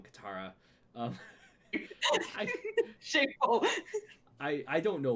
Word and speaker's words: Katara: was no cateura or you just say cateura yeah i pronounced it wrong Katara oh I I don't